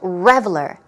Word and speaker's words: reveler: Stress goes on the first syllable, reveler, reveler.